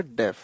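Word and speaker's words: deaf: बच्चों इसकी प्रोनाउंसिएशन का ध्यान रखिएगा। डेफ, to turn a डेफ ईयर का मतलब होता है टू इग्नोर, अनसुना कर देना।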